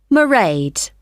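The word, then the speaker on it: Mairead: do you spell that it's m a i r e a d marade okay got that it's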